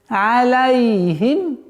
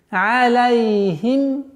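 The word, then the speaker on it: عليهم: Алейхим. Алейхим. Аля. А не звук але.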